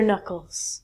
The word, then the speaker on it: knuckle: like me crack their knuckles Oh some people really hate that yeah so the part on your your hand here called your knuckles not your k'nuckles good next one these